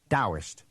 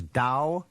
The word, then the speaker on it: Taoist: So it's written Taoist and pronounced with a D, Taoist.